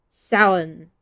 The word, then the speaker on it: Samhain: Samhain. I know that you're not supposed to pronounce all the letters in that.